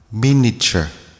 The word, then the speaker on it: miniature: few terms crackle crackle miniature mini archer but the i is very quickly pronounced so miniature miniature miniature